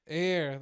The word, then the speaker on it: heir: was like a hair how do you say air air I've been saying here it is an heir so he's like I